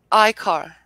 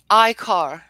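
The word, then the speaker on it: ichor: Icar. Can you repeat the pronunciation? Icar.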